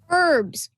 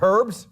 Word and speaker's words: herbs: are known as these a word with a silent first letter herbs herbs is right they're not herbs they're herbs good answer next for